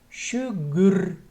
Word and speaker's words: шугур: Шугур – шугур. Тут «р» произносится мягко.